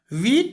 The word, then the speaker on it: Wiete: वीट वेस्टरहॉफ की spelling है WIETE, वीट पढ़ लो या वाइटे पढ़ लो, VESTERHOF।